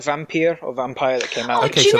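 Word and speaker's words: Vampyr: I really liked Vampire. Or Vampire. Same. I don't know how to pronounce it. No, it is. It's Vampire, but you got to roll your R's, which I did on the podcast.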